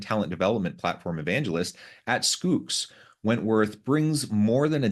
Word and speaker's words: Schoox: platform evangelist at uh how do you say that it is skooks like school with an y nice let me say